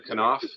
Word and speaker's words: Knopf: Knopf, and I appreciate that you do pronounce the K in your name.